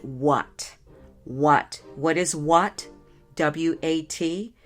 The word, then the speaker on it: WAT: I call it WAT, W.A.T, and I pronounce it what.